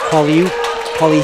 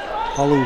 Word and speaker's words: Palu: There's the the drive, and she's called on a travel, is Polly Heacock. Palu Heacock is the correct pronunciation.